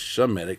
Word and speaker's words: Shemitic: They are Shemitic, because the proper way to say that is Shemitic, Shem, not Sem.